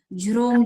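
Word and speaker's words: झ्रौं: जो झ्रोम का प्रोनाउंसिएशन है उसमें र भी आएगा और म भी आएगा, झ्रोम झ्रोम स्वाहा।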